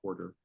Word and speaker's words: Corder: Or if you see Quarter. Of course, and it's spelled, for those that are listening, it's spelled Corder.